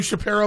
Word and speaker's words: Shapiro: You do Shapiro, but not me. Yeah. I'm pretty sure it's pronounced Shapiro.